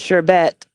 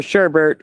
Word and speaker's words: sherbet: Both the T is not pronounced here, so it is regional. You guys pronounce it very different. Here's the thing, though. Like I was saying, it doesn't matter. Like if I didn't pronounce the T, it would be sherbet, sherbet instead of sherbet, because there's